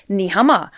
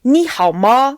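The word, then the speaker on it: 你好吗: how are you but you can't just say nihama you say Nihao ma please don't come from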